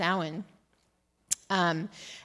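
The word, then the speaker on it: Samhain: ha an in various different ways but it's pronounced s um and it traditionally occurred the first full moon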